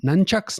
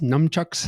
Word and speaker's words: nunchuck: you say it nun nunchucks numchucks I think it's I think it's an N it's a nunchuck like like like one who lives in a Convent nuns I think so the